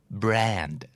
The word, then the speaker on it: brand: บ้างตัว B ก็สามารถควบ R ควบ L ได้นะครับคู่แรกนี้ถ้าเกิดออกเสียงเป็นตัว R นะครับจะหมายถึงยี่ห้อครับแต่ถ้าเกิดออกเสียงเป็นตัว L จะเป็น adjective แปลว่าจืดชืดไร้รสชาติไม่แซ่บน่าจะเดาได้ตรงคำว่ายี่ห้อเนาะนั่นก็คือ brand กับ bland b r a n d brandแปลว่ายี่ห้อ